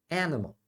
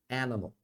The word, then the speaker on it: animal: vai ser a aqui esse i e Esse a é chua então a pronúncia em inglês vai ser animal animal tá vendo Então o